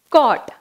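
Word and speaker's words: caught: Next, cot.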